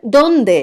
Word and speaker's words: dónde: veas mejor quiero saber dónde está quiero saber dónde está ese donde sube y el segundo en el que no lleva tilde dice estará donde esté fíjate que el donde esté baja donde está donde esté